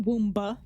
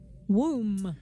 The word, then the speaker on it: womb: wom wom womb wom it's not womba womb I know but suddenly when I'm trying to say it out loud it sounds wom wom does that sound right it's a womb silent B wom it's a silent be you get it it's